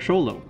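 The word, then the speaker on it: Xolo: you don't worry because you can call this breed of dog show low there you go show low so apparently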